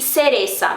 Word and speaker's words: cereza: cigüeña e cereza, beleza, mas é na Espanha que o C seguido de I e de E tem esse som parecido, esse som como o do Z, que é pronunciado na Espanha, que é aquele, então, né, tipo TH do inglês.